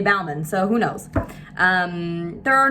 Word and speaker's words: Bauman: According to a lot of family members, it's Bowman or Baughman, but I say Bauman, so who knows.